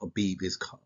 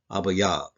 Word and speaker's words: Abib: More than likely, in all the translation I've done, wherever you see that I in your word in English, more than likely it's to be Yah. Okay, so it's not pronounced Abib, it's pronounced Abayab.